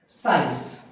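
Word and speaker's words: science: वो ऐसे कौन से शब्द हैं, पहला तो आपको पता ही है, हमारा जो सब्जेक्ट होता है साइंस। यहां पे सी नहीं, यहां पर शुरू में एस बोला जा रहा है।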